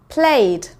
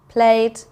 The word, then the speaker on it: played: And finally, words that sound like there's just a d on the end. Showed, played, rained. Okay, so we can hear the d, not so much the e. It just sounds like there's a d sound at the end.